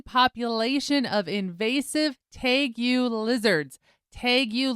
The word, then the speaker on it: tegu: Tegus lizards is what I said. It's spelled t e g u.